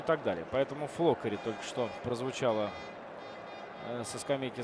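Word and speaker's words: Floccari: А, ну вот Ре ударение ставит на первый слог. Флоккари.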